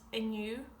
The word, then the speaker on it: inniú: Today is inu and tomorrow is amara.